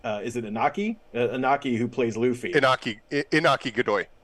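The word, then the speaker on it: Iñaki: Inaki, who plays Luffy.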